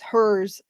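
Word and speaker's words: Herr's: It's spelled HERRS. It's hers jalapeno cheese puffs.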